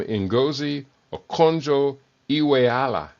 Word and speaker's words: Ngozi Okonjo-Iweala: Ngozi Okonjo-Iweala. That's not so hard. It's Nigerian, so the syllables separate. Not syllables. Yeah, syllables separate.